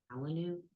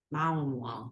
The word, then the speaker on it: Malinois: Malinu? Malnois. Malinois.